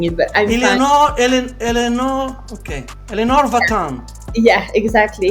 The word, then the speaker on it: Eléonore: V so it's a very different way of pronouncing it but I'm elor El Elenor okay Elenor vatan yeah exactly yeah okay okay